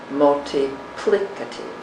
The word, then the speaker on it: multiplicative: n write v e the accent on this word changes to the third syllable multiplicative multiplicative one is the multiplicative